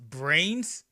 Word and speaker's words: Vrains: Hey true duelist, did you know that in Japan you pronounce a V with a B sound? So Vrains is pronounced brains?